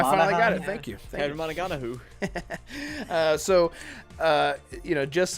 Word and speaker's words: Cameron Monaghan: he could really shine, sort of like how Cameron Monaghan has with. That was exactly how you say his name. Good job. I finally got it. Thank you. Cameron Monaghan.